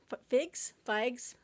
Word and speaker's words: Figes: As you know, I love Orlando Figes, but not enough to figure out how to pronounce his last name. Apparently, Figes, Orlando.